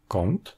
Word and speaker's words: kąt: C'est ce que l'on a en polonais, devant les consonnes occlusives et affriquées, avec des mots comme "kąt", le coin, "krąg", le cercle, "ręka", la main ou "pięć", cinq.